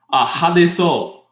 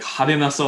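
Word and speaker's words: 派手そう: If somebody's describing the t-shirt to you, like hade so. You don't have to say it like hadenaso or whatever, you just say hadeso, like it seems really flamboyant and gaudy. You just use the base word.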